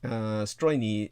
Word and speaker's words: Strojny: Yes, Stroine, and J is pronounced as Y in the Slavic languages.